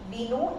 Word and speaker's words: vino: So in Spanish, though it's we mentioned as V, but we reduce the sound of B. So it's vaca and it's vino. So we produce B sound.